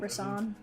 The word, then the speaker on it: Rison: Turns out I was saying his name wrong. I was just saying it. Rasan.